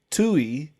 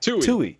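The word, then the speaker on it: Twohy: I looked it up the pronunciation. This is according to Google, guys. Break Tui, so down in the sounds.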